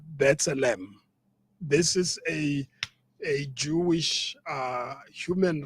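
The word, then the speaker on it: B'Tselem: And then you've got Bethlehem. I always pronounce it wrongly. It's Bethlehem.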